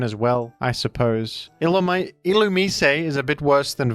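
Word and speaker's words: Illumise: treasure in my Minds up next you've got ilum that's a bug and that is how it's pronounced ilum I've been told by many people that this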